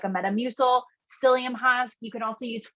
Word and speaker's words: psyllium: It's spelled like with a P, which sounds weird, but it's called psyllium husk.